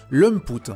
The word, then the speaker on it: Lamput: moins que Cartoon Network, Lumput. Apparemment c'est comme ça que ça se prononce.